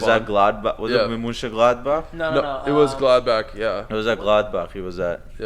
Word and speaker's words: Mönchengladbach: Borussia That's how it's pronounced. Mönchengladbach.